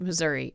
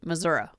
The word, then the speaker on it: Missouri: or Missouri I mean if you're normal person you pronounce it Missouri if you're from Missouri you pronounce it Missoura Missoura okay why I'm